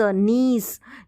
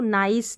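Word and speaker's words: niece: में बोलते हैं नीस अब इसको नाइस नहीं पढ़ेंगे नाइस की स्पेलिंग रहती है एन आई सी ई नाइस ये वाली इसको हम नीस पढ़ेंगे नीस यानी कि भतीजी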